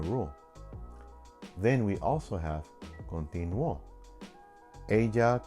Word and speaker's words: continuó: Then we also have continuó. Ella continuó. She continued. That's a past form, a preterite. And it breaks the rule, but we pronounce it more strongly in the O, continuó.